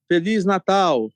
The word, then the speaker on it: Feliz Natal: Feliz Natal.